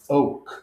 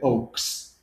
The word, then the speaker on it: Oake: So let's dive into Oake. Thanks for And having me. it's Oak. It is oak. Yes. So Yes. because how many people say Oaks?